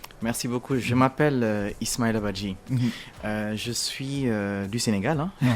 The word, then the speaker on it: Badji: Badji, c'est ça. Badji, d'accord. Ah, moi je prononce mal ou je prononce ça bien?